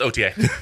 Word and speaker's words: Outhier: Outhier. Oh yeah, it's OTA.